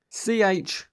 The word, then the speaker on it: choir: C-H-O-I-R. Yes, that's notoriously difficult.